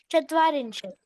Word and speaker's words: चत्वारिंशत्: आणि रिंशत जे आहे त्याचा त हलंत आहे, पूर्ण उच्चारण होत होतं, परंतु ते ओके. आठवणीने चत्वारिंशत्. हलंत उच्चारण करा.